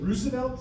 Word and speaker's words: Roosevelt: If you really are a stickler for this, his family line of the Roosevelts pronounced the name Roosevelt, so he would call himself Teddy Roosevelt, whatever.